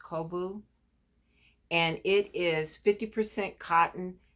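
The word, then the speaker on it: Cobo: lion brand i think it's called kobu um c-o-b-o-o i think is pronounced kobu and it is 50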